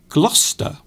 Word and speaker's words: Gloucester: good example is gloucester gloucester so gloucester is actually a different pronunciation to the actual spelling of the word we will say i am going to gloucester to visit my auntie but in fact the spelling of gloucester is not as it is pronounced there are extra